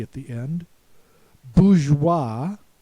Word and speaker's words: bourgeois: Then we have voilà, memoirs, reservoir, noir, armoire with a silent E at the end, bourgeois, silent S at the end.